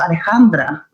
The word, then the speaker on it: Alexandra: same with my name my name is pronounced Alejandra and I'm you